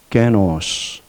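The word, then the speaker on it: γένος: 너희는 택하신 족속이요이 족속이라고 할 때 헬라이 이 발음을 한번 염두해 두어 보십시오 노스 노스 인종 종족이란 뜻입니다 게노스 택하신 족속이요 황인종 백인종 이렇게 할 때 인종을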